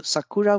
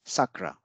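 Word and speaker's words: さくら: applicable and O will not be devised so Sakura will not become Sacra Sakura will not become Sakura it will remain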